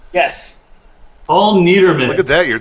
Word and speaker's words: Niedermann: Paul, is it pronounced Niedermann? Yes. Paul Niedermann.